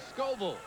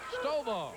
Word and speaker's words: Stovall: Mark Scoville. Tall, dark-headed kid to go against gentleman Chris Adams. Did I say his name wrong? Stovall. Oh, okay. Stovall. S-T-O-V-A-L-L.